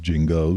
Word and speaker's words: Genghis: It's pronounced Jingos.